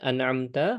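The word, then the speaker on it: أنعمت: Kemudian an'amta, maka dijelaskan an'amta ya. Di sana ada hamzah kemudian ain. Sirathalladzina an'amta an'amta an'amta alaihim.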